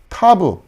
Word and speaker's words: ת: 아까 싸맥도 s 발음이었는데, 자, 이것도 그냥 같이 동일한 발음이다. 여러분 이제 그렇게 생각하시면 되고요. 자, 이제 마지막 알파벳입니다. 타브.